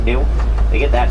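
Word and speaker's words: gnu: That name is spelled G nu pronounced new.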